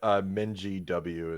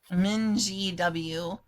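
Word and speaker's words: MinGW: That's up for debate, but Minji W is a common one. Minji W.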